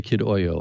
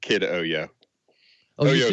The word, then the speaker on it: KidOYO: it does it ever do you ever say kid oil i don't think you do do you i